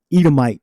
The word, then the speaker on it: Edomite: um well Edomite let me say it correctly Edomite Jews all right amenity descend from Esau and